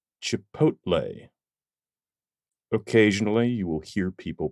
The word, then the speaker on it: Chipotle: as well as a type of sauce is Chipotle Chipotle Chipotle occasionally you will hear people pronounce it chipot they are wrong the L